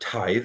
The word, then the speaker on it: tithe: The word tithe is how you say it. Some people today were saying tithe, but it's tithe.